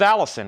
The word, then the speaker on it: Allison: how to pronounce it Moe's Allison rhymes with nose 1968 but that stuff